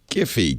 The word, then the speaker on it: Giphy: Jiffy, because it's like Jiffy Pop, right?